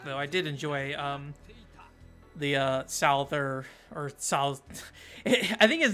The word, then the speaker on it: Souther: But the Japanese and how they say it is like Souza, and that like sounds neat, but Souther does not.